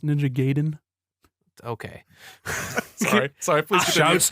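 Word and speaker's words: Ninja Gaiden: your time it's like ninja guyen ninja gayen uh the music's really dope excuse me it's pronounced ninja gayen okay sorry sorry please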